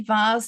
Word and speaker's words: vase: Veer towards R sounds I say vas to rhyme with Mars not vase to rhyme with face so an accent can